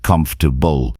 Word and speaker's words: comfortable: For example, take the word comfortable. Many learners try to pronounce every single letter, but native speakers usually say it like comfortable. Notice how the sounds are blended and shortened. Practicing words like this teaches you that English pronunciation is not always about spelling, it's about sound.